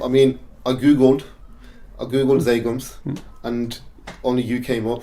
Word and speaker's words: Zhagum: So is it actually pronounced Zhagum or? Zhagum, yeah, that's how you pronounce it. But we don't spell it like that.